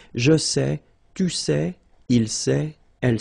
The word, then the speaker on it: sais: Here you write it S-A-I-T, okay, but then phonetically these three forms are the same, and it's c'est, okay? Je sais, tu sais, il sait, elle sait.